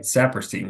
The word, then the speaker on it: Saperstein: sadoff and today we have with us sapperstein did I pronounce that correct that's right sapperstein you got it first try awesome how are